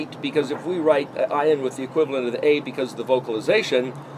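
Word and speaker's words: עין: It's the letters in sequence to discriminate between the letter ayin, ayin is the way it's actually pronounced, and it's not the aleph, which is actually silent.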